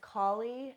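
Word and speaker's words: Kali: we talking about so this first one is collie and her name is spelled k a l i some people call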